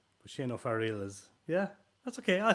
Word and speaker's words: Shane O'Fearghail: I thought Dahiru was hard to pronounce, but Shane O'Fearghail is.